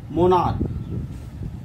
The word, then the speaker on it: monarch: In the same way, there is one more word, monarch. MONARCH. Here the pronunciation of CH is K.